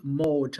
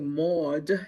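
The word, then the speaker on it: Mohd: The application was sent to someone by the name of Neem Mode. I'm going to spell that for the court reporter. That name is spelled N like Nancy, A-E-E-M. The last name looks like Maud.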